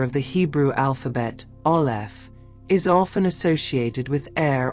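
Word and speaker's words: aleph: The first letter of the Hebrew alphabet ol is often associated with air or breath. Phonetically it is a silent glottle stop necessitating an open mouth to produce its initial sound.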